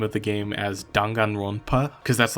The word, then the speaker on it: Danganronpa: of the game as Dangan Rona cuz that's like the closest I could get to pronouncing it like uh like the original Japanese pronunciation.